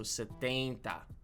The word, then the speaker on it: setenta: I think maybe that's because of the N. So, like the E N is like ain. So, setenta.